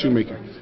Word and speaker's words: Schumacher: Well, in the Dominican Republic, it's pronounced Shoemaker.